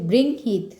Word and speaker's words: বৃংহিত: বৃহং নয়, সরি, উচ্চারণটা হচ্ছে বৃংহিত, সরি, উচ্চারণটা হচ্ছে বৃংহিত।